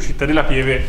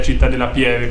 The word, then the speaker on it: Città della Pieve: ribadito il fatto che io pronuncio Città della Pieve come lo sentite e non come lo pronunciano loro, che è Città della Pieve con la E aperta.